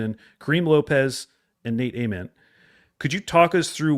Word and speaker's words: Ament: It is not silent. It's not silent. It kind of sounds silent when they first It does sound. Yeah, it does. But it's not. Ament is the right way to say it.